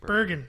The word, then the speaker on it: Bergen: How do you pronounce it? Bergen. Bergen.